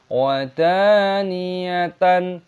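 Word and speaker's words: وَدَانِيَةً: Wadaniyatan, perhatikan, dalnya dibaca panjang, ada tanda alifnya matobi'i, panjangkan dua ketukan.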